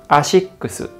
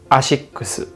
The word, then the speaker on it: ASICS: in the market and when it comes to how it's pronounced once again in japan we say ashikusu ashikusu in japanese a is